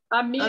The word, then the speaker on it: amígdalas: Falta amígdalas, Amígdalas, Benita. Mas é amigdalas. Não, inflamação, isso não é... O G é mudo, amígdalas.